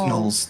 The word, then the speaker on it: gnolls: It's just pronounced gnolls. The G is silent.